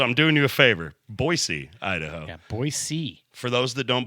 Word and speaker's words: Boise: It's pronounced Boise. Yeah, with an S. It's not fucking 3 Z's and a Y.